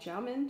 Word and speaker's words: Xiamen: I'm moving to a city called Xiamen, China, and it's spelled X-I-A-M-E-N, and we are super excited.